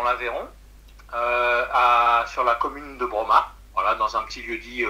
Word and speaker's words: Brommat: Alors, c'était dans l'Aveyron, sur la commune de Broma, voilà, dans un petit lieu-dit aux alentours. Broma, ça s'écrit comment?